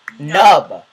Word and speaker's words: noob: n and I'm Noob and I'm like it's pronounced nub I said nub to Colin and he's like